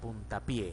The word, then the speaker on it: puntapié: Originalmente ninguno de los dos vocablos se tilda, pero al componerlo mantenemos el acento en el vocablo de la derecha, es decir, en pie. Por lo tanto, la palabra compuesta sería puntapié, palabra aguda.